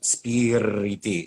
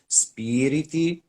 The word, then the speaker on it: spiriti: vivo you know don't it's like the r don't stress it it's not spirity it's spirity yo vivo it's just